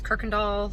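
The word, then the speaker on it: Kuykendahl: easy access to Kirkendall it's the one that's spelled cooey Kendall it's pronounced Kirkendall so you'll have easy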